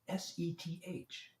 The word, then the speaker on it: Seth: S-E-T-H, sound it out. It's Seth. It rhymes with Beth.